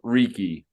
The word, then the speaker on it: Reeky: It rhymes with freaky, and it's called Reeky.